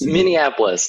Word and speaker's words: Minneapolis: I find it really hard to pronounce that. Minneapolis, no worries.